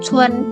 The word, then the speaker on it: 村: 村 ini bacanya cun, jadi un kita bacanya un. Oke. Untuk vokal un bacanya bukan un, tapi u n, un. Oke. Nah, c u n bacanya bukan cun, tapi cun gitu.